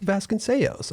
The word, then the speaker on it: Vasconcellos: talking, I'm like, so how do you properly pronounce it? And you're like, Vasconcellos.